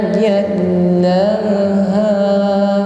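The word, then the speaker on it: جلاها: Wan nahari idza jallaha. Bersama wan nahari idza jallaha. Jal huruf lam bertasydid maka ditekan membacanya. Wan nahari idza jallaha.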